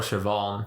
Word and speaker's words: Siobhan: Do you know Like how it's spelled Siobhan.